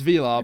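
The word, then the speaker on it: Vilar: to an actress peace i'm saying his name wrong by the way it's arturo it's it's v-i-l-a-r so it's velar but they i'm sure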